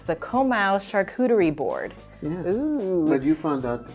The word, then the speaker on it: charcuterie: so it's the komau charcuterie board but you found out that there's a different way to sit with me oh yeah it's a shark tray is the right way to say it and charcuterie means deli